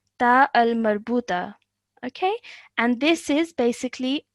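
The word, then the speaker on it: تاء مربوطة: It has the shape of a ha, but because of the 2 dots on top, this is pronounced as a ta.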